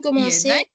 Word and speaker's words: commençais: Ici, on doit ajouter un petit détail. On doit écrire avec CCD. D'accord? Sinon, on va prononcer comme manquer.